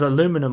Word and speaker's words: aluminum: So there's like a blue circle here, which has aluminum on it, or aluminium on it, depending on how you say it.